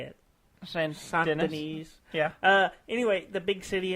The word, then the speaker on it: Saint Denis: Saint Denis.